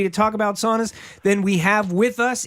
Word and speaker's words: sauna: So, sauna is a Finnish word. Yeah. And thus it's pronounced sauna because AU is always pronounced ow.